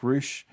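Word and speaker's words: Ruch: Now, if you haven't heard of Jack, you need to race over to Instagram, look up Jack Roush, which is spelled R-U-C-H, and follow him and watch all of his videos.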